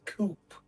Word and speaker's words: coup: I can't say I understand anything happening, but I'm pretty sure each coupe there's a P at the end. Look, I like I'm dyslexic and all, but I know the the P is not pronounced.